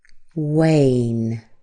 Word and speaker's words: Wayne: And finally here we have a long A sound in the word Wayne.